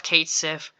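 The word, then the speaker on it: Cait Sith: Is it pronounced Kate She or Kate Sith? Well, in the game he calls himself Kate Sith, so that's what I'm gonna be calling him.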